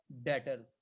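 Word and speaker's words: debtors: Accounts receivable या डेटर्स, इसमें B silent होता है।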